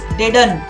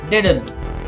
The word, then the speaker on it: didn't: is not silent it's didn't the second D has the sound didn't so he left didn't